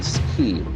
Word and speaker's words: scheme: e e m e so the letter combination will give us a C Sound basically scheme scheme scheme is an